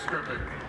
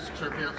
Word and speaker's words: Skrzypiec: Well, the easy way is Skrzypiec. The correct pronunciation is Skrzypiec, but I also go by.